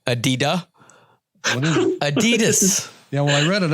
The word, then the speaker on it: adidas: box he gives me is a pair of adida adidas adidas if you got you're gonna be a sneaker head you gotta say it right what'd i say adida adidas yeah well i read it upside down serenity